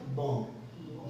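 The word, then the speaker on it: bomb: है कोशिश करें ये नियम याद रखें की बी के पहले अगर एम आता है तो बी का पेमेंट नहीं करते हैं क्लियर जैसे यहां पे मैंने और भी एग्जांपल से लिख सकता था पर और भी हम स्पेलिंग देखेंगे उसमें एग्जांपल्स ए जाएंगे बम है ना बम लिखा है पर पढ़िएगा बम जैसे कम लिखा है तो पढ़ेंगे कम ठीक है दूसरा है जी अब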